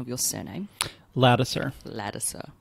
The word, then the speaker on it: Ladouceur: Is the Americanized version of a French-Canadian surname. It's French-Canadian? Yeah. Oh, how would you pronounce it as a French-Canadian? I probably won't do a good job, but Ladouceur. That sounds really nice. Because it means the sweetness.